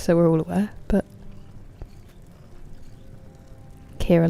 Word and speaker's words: Ciara: Wait, it's not even Kiara. It's just Kira. It's just two syllables. Kira. Not that my nephew can say it, so you're not alone. But Siara or Sierra is um the American way of pronouncing it.